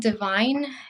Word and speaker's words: Devine: It's called Divine. It's spelled Devine, and it represents this